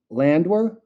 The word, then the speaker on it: Landwehr: The Nate Landwehr. Do I have that name correct? I Yep, butchered the Nate last Landwehr, one.